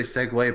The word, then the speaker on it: segue: you or use it I was about to say segue but that's the actual way my head I said @ue like sick you know number one segue